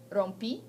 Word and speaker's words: rompí: Rompi, accent on the I.